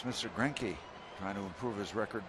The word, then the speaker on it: Greinke: Greinke trying to improve his record. Is that how you pronounce it? Zach Greinke, yeah.